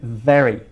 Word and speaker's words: very: I'm very. Mira, very. Okay, we vibrate the bottom lip with the top teeth when we want to pronounce the V.